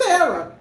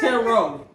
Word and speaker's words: tarot: Who is tarot? That's what she read, guys. She read tarot. But it's tarot. Tarot, okay? Tarot. The T at the end is silent.